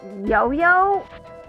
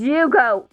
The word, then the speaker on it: Yugo: Was it yo-yo? Yoyo. I'm guessing it's not. My name is Yugo, not Yo-Yo.